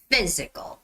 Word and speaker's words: physical: it's not physical it's not physical but it's got to be physical physical fee it's the f sound so vigorous physical activities